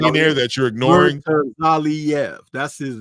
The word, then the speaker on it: Murtazaliev: multiple times to the point where it's Bakram Murtazaliev, right? Murtazaliev. I feel like there's a Z in there that you're ignoring. Murtazaliev, that's his name.